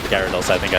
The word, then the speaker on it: Gyarados: Is it Gyarados or Gardos? It's Gyarados.